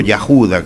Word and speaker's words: Judá: antiguo la antigua tribu de Judá o Yuda, como es la pronunción correcta.